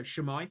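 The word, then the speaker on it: shwmae: So shemai is how you say hi in Welsh.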